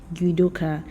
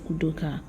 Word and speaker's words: Udoka: be why some Americans mispronounce my name as yoka instead of udoka but how did I